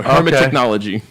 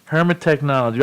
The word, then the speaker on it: Hermetechknowledgee: So it's hermetic and technology together. So Hermetechknowledgee. Hermetechknowledgee.